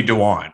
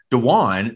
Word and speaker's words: Dejuan: dejuan and like people who couldn't say my name dewan they always go to because of my initials and so i didn't